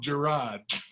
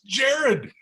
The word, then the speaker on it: Jared: tell you beau schambacher used to call him gerard who got my name wrong for so long got your name wrong for five years five years until he graduated then we got a big run by gerard bunch and i'm sitting there next to him and going it's jared it's jen he would